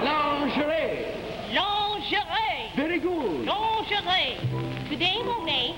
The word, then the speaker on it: lingerie: Now remember that pronunciation. Now try this once again. Today Monae has a sale in lingery. No. Lord and Taylor. No, it's lingerie.